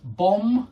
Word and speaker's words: bomb: think about these words bomb you don't pronounce the B comb you don't pronounce